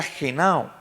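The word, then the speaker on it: γεννάω: Esta palabrita nacer en el idioma que fue escrito en el griego, se pronuncia genao.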